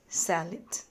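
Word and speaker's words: salad: বাংলায় আমরা সালাদ বললেও ইংরেজিতে স্যালাড এভাবে উচ্চারণ করতে হবে।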